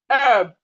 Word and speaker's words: herb: So we have silent letter H in words like honest, honest, rhyme, herb, honor, host.